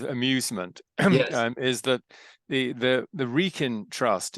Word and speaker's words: Wrekin: And he said an American friend used to say, well, George, how's your wrecking trust? Right. The wrecking trust. So you don't pronounce the W. No, yeah, exactly. It's Wrekin. It's Wrekin Trust.